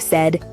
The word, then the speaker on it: said: daily paid and said be careful with the pronunciation of said not say okay ready for your